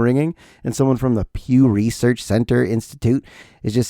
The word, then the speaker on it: Pew: Pew. Pew. Okay. Had to spell it for you. Not P U G.